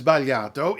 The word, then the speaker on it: sbagliato: they're delicious doesn't matter the thing about this words baliato is it also tends to make English makers make some mistakes from the perspective of Italian pronunciation there are three things about it that throw English speakers off the first syllable the second syllable and the fact that there are only three syllables so first syllable zba